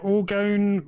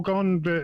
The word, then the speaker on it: orgone: The Orgone or Orgone, both are correct pronunciations.